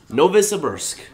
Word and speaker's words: Novosibirsk: but no vissa Nova Scabbers nobis a Bursk novosibirsk no visitors I was in Russian cities barely